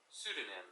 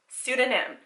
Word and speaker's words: pseudonym: aaron hunter actually aaron hunter is like a pseudonym i don't know how to say that word it's a synonym i'm gonna have to google the pronunciation aren't i hold on pseudonym pseudonym that's how you say it okay it's not